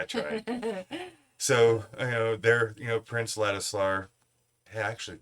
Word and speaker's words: Ladisla: So, there, Prince Ladislar, I actually said his name right.